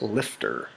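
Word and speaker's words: LFTR: reactors or MSRs and liquid fluoride thorium reactors pronounced lifter the next slide we'll find a block diagram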